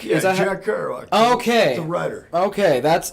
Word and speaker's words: Kerouac: Is this pronounced Karouac? Yeah, Is that Jack Kerouac.